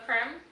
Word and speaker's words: Creme: Creme is what pronounced. Creme, yeah.